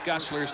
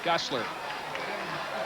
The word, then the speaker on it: Gusler: seen a week ago I mispronounced Luke guster's name and my apologies in the pho game it is Luke gusler he's a fine fine